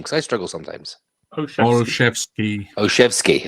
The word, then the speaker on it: Olszewski: How do you pronounce this name? Because I struggle sometimes. Olszewski. Olszewski.